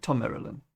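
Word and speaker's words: Thom Merrilin: Okay, Tom Marilyn.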